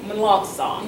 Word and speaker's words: Melancon: with your last name it's Misty monong song yes yes so not whatever